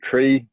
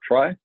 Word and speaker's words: trie: etherion tree so the tree words and you'll notice that I'm I'm laying my case for how it should be pronounced as tree not try and is is originally